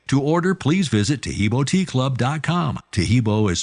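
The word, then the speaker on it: Taheebo: Tahibo is spelled T like Tom, A-H-E-E-B like boy, O, then continue with the word tea and then the word club.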